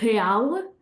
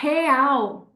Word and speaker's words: real: In Portugal, we would say real. And in Brazil, they'll say real. Okay, so that L even becomes a W sound.